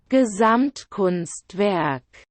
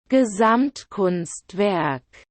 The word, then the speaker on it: Gesamtkunstwerk: It's a long German word, so let's learn how to say it with the help of an online pronunciator. Gesamtkunstwerk. Gesamtkunstwerk.